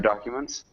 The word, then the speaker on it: documents: And maybe we'd have a long U in documents.